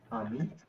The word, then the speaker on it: ami: Here, I have written AMI. You have to read it in French. Uh, Ami. Ami, right?